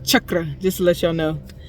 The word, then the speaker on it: chakra: to open your third eye chakra right or Shakra as everybody knows is but it's pronounced chakra just to let y'all know all of them